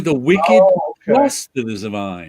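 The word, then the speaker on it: The Wicked + The Divine: it that way but it's actually the wicked plus the divine gotcha i was like that's weird because i always found myself calling it the wicked and the divine and then i'd look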